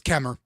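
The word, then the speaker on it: Kemmerer: This is in uh Chemmer Kemer. That's how you spell it but it's Kemer.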